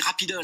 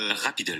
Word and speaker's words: Rapidle: Alors c'est Rapidol. Hein, Rapidol, tout à fait. Voilà. Exactement. Ça s'écrit Rapidle, mais vous dites... Rapidol.